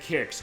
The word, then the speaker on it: QIX: It was emulation questions, but for this one, Kicks is in here as far as the original QIX, as far as how that's spelled.